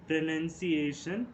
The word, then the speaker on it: pronunciation: pronunciation you may notice the spelling in that NOUN is not present, instead NUN is present. So that is why it is called as pronunciation, not pronunciation.